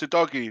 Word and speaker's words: Udogie: right C Cube saying it's a doy because UD DOI oogi told interviewer how to pronounce it when he joined fair enough udogie is Udi UD DOI